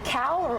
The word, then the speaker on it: Cowell: Because Cowell rhymes with scowl.